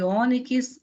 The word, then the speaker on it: ônix: Então, temos aqui tórax, fênix e ônix. Primeiro, analisando a posição da sílaba tônica. Quando pronunciamos tórax, onde está a sílaba tônica? No tó. Fênix, no fê. E ônix, no o.